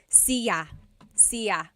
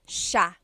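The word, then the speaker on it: siya: It looks like it should be pronounced cia sea. But it's actually pronounced sha sha. So the s i y, it's a sha sound.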